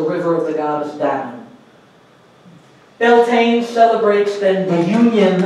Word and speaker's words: Danu: two the people of the goddess down not the yogurts dannon refers to a river